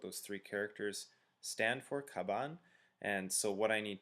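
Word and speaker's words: 鞄: that's the meaning um to pronounce it is kaban so that's what those three characters stand for kaban and so what I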